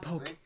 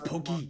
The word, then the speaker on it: Poké: It's not Poke, it's Pokey. Thankfully, Pokemon's well enough known that when people see Poke, they pronounce Pokey, especially in the gaming communities.